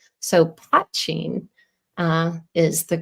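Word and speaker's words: poitín: And to help people pronounce it correctly, I tell them to emphasize and remember the word pot. So poitin is the correct pronunciation.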